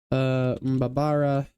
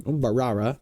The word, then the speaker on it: Mbarara: Mbabara. Not Mbabara. I said it wrong. Mbarara, but yeah.